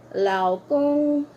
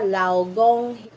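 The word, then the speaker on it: 老公: In Chinese mandarine Ayan law kong law kong law kong itong G is K kong kong i-pronounce not Gong hindi hindi siya law Gong law kong ke ke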